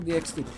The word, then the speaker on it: DxD: DxD, you're supposed to pronounce the X, really?